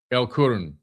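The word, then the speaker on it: el-Qurn: I think it's Karna. L Q U R N Kurin. El Kurun. That's what that's how you say it.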